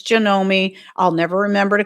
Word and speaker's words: Janome: I pronounce it Janome, apparently it's Janomi.